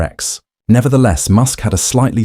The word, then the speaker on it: X: Grime without a doubt said it is just X just like the letter X.